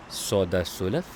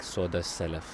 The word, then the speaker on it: सौदा सुलफ: Soda sulaf, groceries. I have also heard it, people say it like soda salaf and sulaf, so whatever you prefer.